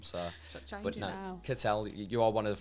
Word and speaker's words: Cattell: Did I say it right? Cattell?